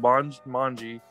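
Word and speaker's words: manje: worked as a pa on it it's called bonj mongi it's spelled m-a-n-j-e and it's a voodoo haitian word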